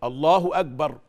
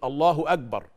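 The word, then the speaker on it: الله أكبر: في التكبير تعرفوا انه اغلب الناس في التكبير ما بينطقش بالكاف او بالهمس اللي في حروف الكاف في حرف الكاف في همس فبيقول ايه الله اكبر بدل ما يقول الله اك اكبر يقول الله اكبر طب اختبر نفسك كده شوفها انت بتقول الله اكبر ولا الله اكبر اذا كان الهمس يخرج في الكاف يبقى انت بتنطق صح الله اكبر شوف انت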